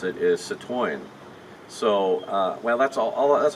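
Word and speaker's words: Citroën: to pronounce that is Citrone but really the correct way it's a French car so the correct way to pronounce it is Sat wine so well that's all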